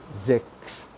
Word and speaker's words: sechs: which is pronounced as sechs. S-E-C-H-S. And I told you, whenever a vowel comes after S, it is pronounced as like Z, like za. Okay, like ZTV. So this number would be sechs.